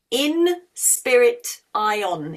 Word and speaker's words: inspirition: So, but it's in spell it spirit, in spirit ion, inspirition. Just like inspiration, same word, different meaning, is with an A in it, but this is inspiration.